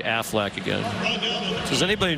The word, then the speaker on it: Aflac: for college football Aflac Aflac Affleck in case I missed one next week I want you to say it like the Ducks Pittsburgh beat Wake Forest